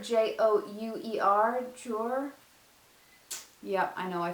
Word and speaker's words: Jouer: This is the, I can never pronounce this right. Jouer, J-O-U-E-R, Jouer.